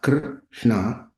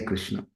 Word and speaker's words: Krishna: The letter R in Krishna, although a vowel, is uttered in the same way, more clearly. The tongue produces the sound R, but it is produced like R.